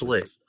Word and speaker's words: Schlick: actually, we It's should put your pronounced guys' Schlick. names It's there. not Schilck. I'm sorry, my name's spelled like that. It's You French. need to All buy a right, new y'all. Oculus. It's Schlick.